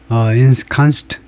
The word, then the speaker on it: ensconced: 네, 우선 발음부터 점검을 해보면, adjective로, ensconced, 그거네요. ensconced, UK, ensconced, 미국하고 영국하고 발음이 거의 똑같고, 네, 물론 이제 영국은 이제 ensconced, O에 가깝고, 미국은 이제 I에 가깝고, ensconced, 미국식이라면 ensconced, 그 중요한 뜻은요, comfortably settled, securely placed, 안착된, 이 말이네요.